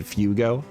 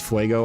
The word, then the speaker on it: Fuego: So we got Fuego Ironworks, which when I was a kid I pronounced it Fugo. Because I didn't understand that other languages existed when I was a little child. So that's Fuego Ironworks.